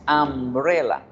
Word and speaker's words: umbrella: palabras by entonces piensen la palabra se escribe con un pero se pronuncia con a y decimos umbrella por eso es que